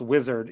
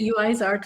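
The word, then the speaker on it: Uizard: Apparently, it's pronounced wizard, even though I don't know how you get that from UI Zard. I've been calling it UI Zard for wizard.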